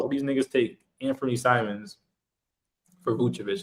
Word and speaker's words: Simons: Anthony Simmons. I forgot how to pronounce his first name. Anthony Simons.